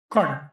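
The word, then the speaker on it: krone: corner.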